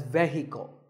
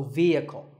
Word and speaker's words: vehicle: It's often pronounced wrongly as vehicle, but the E is a long vowel and the H is silent, so vehicle.